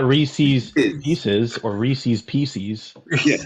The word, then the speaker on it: Reese's: You said Reese's. If you say Reese's, you need a phonics lesson. Because if you take away apostrophe S, you don't call it a Reese. It's Reese. Or it's not Reese's Pieces or Reese's Pieces.